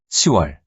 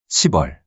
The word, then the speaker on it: 시월: / November / December Note that June and October are pronounced as '유월', '시월' not '육월', '십월' respectively.